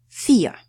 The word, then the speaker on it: vier: So, we'll pronounce it as a "f", vier. The diphthong ie combined together produces just long letter e, or sound e.